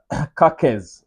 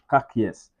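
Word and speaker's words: Miloš Kerkez: he's born in Sabia his name is kakz or maybe kakz I think I think that should be the right pronunciation Milos kakes that's a 20y old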